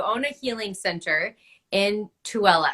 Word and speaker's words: Tooele: a healing center in tooele is that how i say it right uh-huh tuala utah i've been to it